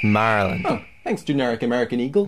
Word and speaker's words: Maryland: Hey, Dave, it's pronounced Maryland.